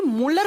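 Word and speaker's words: Muller: इसकी खोज की थी मोलर नाम के साइंटिस्ट ने है मूल दी आई आर लेकिन इसको प्रोनाउंस करते हैं तो दी साइलेंट हो जाते हैं इसे मूलर बोल दिया जाता है फिर ये जो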